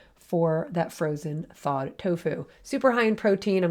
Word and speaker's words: tofu: same characters in pronunciation you'll often hear dofu in Chinese but it's tends to be tofu in Japanese and the word toe